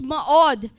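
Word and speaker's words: מאד: for strength is maud yung spelling niya me od pero yyung pron pronunciation niya is ma od and it occurs some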